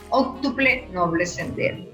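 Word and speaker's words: óctuple noble sendero: Octuple noble sendero, así es que se pronuncia.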